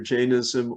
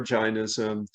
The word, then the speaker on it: Jainism: And Jainism, everyone's heard of Buddhism, not so much Jainism, and it can be pronounced either Jainism or Jainism, but it's a faith older than the Buddhist tradition that emphasizes nonviolence at its core.